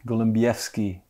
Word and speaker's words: Golembiewski: Do I pronounce it correctly? Golembiewski. Golembiewski, all right.